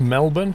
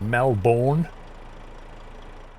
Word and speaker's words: Melbourne: wonders in the same whether it's Melbourne not Mel borne similar concept leftist problem